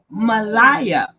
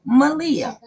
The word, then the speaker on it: Malia: I call her Malaya because the truth is not in her. So that's why I say Malaya. I know it's pronounced Malia, but I call her Malaya.